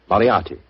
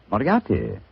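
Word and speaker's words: Moriarty: mispronounce it, I'm afraid I'll have to begin calling it the way it looks. M O R I A R T Y. Moriati. Moriati.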